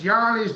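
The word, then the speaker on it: Johne's: Well, he said, any problems with John's disease? Happy Friday, Kinfolk Farm of Georgia. It's Yanni's disease, is how they say it.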